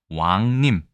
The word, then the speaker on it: 왕림: 구성되어 있을까요 바로 보시겠습니다 일단이 글자는 우리가 왕림이라고 읽습니다 근데 림 자가 발음이 어렵기 때문에 보통 왕님 해서 왕자를 주로 길게 읽고 있군요 왕님이라고 읽어도 상관없습니다 물론 왕림이라고 읽으면 더 정확하겠죠 자 일단은이 왕자 같은